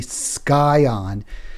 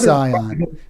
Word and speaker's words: Scion: um my last show I incorrectly pronounced the word Scion s-c-i-o-n and I always I don't always but I sometimes say sky on uh sort of so partly because I've never been certain how to pronounce it I had to go back to YouTube and play three times how do you pronounce Scion but I thought it was Zion she's right no she